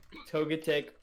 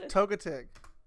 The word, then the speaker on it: Togetic: how did she pronounce togetic yes togetic Oh as in like your toe and then it's gay minutes take Zak this